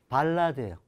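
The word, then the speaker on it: ballade: 따라서 배하고 아가 붙으면 발음은 뭐가 됐어요? 바가 돼요. 그 다음 이거는 라가 되고 으가 맨 끝에 오면 약하게 으르 소리 난다고 생각하세요. 따라서 이것의 발음은 발라드예요.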